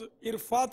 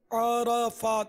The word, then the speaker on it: عرفات: اس کا تلفظ عرفات نہیں ہے، عرفات، عین اور را پر دونوں پر زبر ہے، عرفات، اور مزدلفہ نہیں